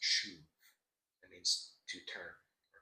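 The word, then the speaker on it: שוב: There's a Hebrew word that I absolutely love, and it's pronounced shuv.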